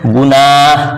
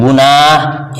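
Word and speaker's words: گناہ: जिसको क्या किया जाए खुल करके बिल्कुल सादा अल्फाज में उसको पढ़ा जाए और हा बिल्कुल जाहिर हो जाए हा के पढ़ने में हा के उच्चारण में तलफ्फुज करने में हा मुकम्मल तौर से जाहिर हो जाए उसको हाए मलफ उजी कहते हैं जैसे गुनाह क्या देख रहे हैं गुनाह य भी हा बोल रहे हैं पना चरागाह आगाह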